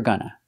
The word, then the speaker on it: gonna: you're gonna make it pronunciation of gonna we use the short uh sound like cup and up for both syllables same sound both syllables a gonna you're gonna do it